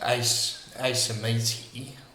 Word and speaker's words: Acoemeti: mind would be, sorry, I think it might be pronounced Asemeti, but spelled Acoemeti.